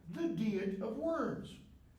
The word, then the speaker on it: Diet: it was called the deet of worms DEET not diet but the same word